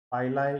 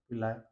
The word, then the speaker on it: pili: The protein पाइलाई यू can pronounce sir पिलाय।